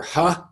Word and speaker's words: He: And this is, I believe it's pronounced Dr. Ha. It looks like he, but they pronounce it Ha.